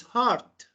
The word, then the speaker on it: heart: But in British, it's heart because R is silent. So if you see R in British English, so keep it is silent. Or not pronounce R in British English. But in American English, R is not silent. So you have to pronounce it.